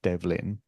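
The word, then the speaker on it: Ó Dobhlain: a i n so in the Gaelic pronunciation sounds something like Devin so that's the way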